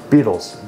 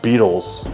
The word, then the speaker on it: Beatles: She's like, yeah, I just realized that it's spelled beetle, like the bug is spelled B-E-E. Like, yeah, I was like, and it hit me. Beatles, like a beat.